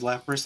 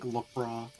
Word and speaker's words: Lapras: it's in intentional cuz he says Lapras like lpra oh no no B